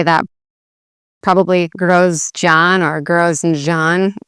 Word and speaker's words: Grožnjan: So this Z with an accent or Z with an accent is Ž, so Grož, and this is a Nj. Again, that's one letter, the NJ together. So you'd say Grožnjan. And this one, the emphasis is a bit more actually on the last part of the word, which is fairly uncommon.